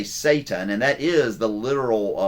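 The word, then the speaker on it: שָׂטָן: Satan is actually the correct way to pronounce it in Hebrew, and a Satan is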